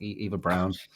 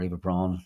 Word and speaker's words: Braun: It's that fur charisma, you know, it's like Eva Brown or Eva Braun, depending on your German pronunciations.